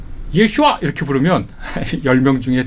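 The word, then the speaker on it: ישוע: 아 보통 명사입니다 그러니까 예수라고 우리가 발음하는 거 그게 아마 1세기 예수의 귀에는 예슈아 이렇게 들렸을 겁니다 예슈아 예 예슈아 예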